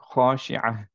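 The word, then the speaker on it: خاشعة: আর যদি কন্টিনিউ করতাম তাহলে আমরা পড়তাম আল গাশিয়াতি উজুহু ইয়াউমাইযিন খাশিআহ। সিমিলারলি খাশিআহ, এখানেও খেয়াল করি খাশিআতুন পড়তাম, রাইট, যদি কন্টিনিউ করতাম। কিন্তু যেহেতু থেমে যাচ্ছি, আমরা সবাই মোটামুটি থামি, এর জন্য হচ্ছে খাশিআহ।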